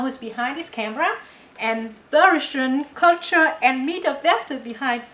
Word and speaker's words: Bergsjön: How do you pronounce that word correctly? Bergsjön.